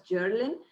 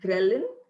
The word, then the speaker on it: ghrelin: means which is the hunger hormone was prince mispronounced as journaling it's ghrelin and uh the word caffeine was mispronounced as